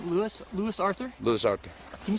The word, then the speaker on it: Lewis Arthur: face so I say what's your name leis Lewis Arthur leis Arthur can you spell that for me l e w i s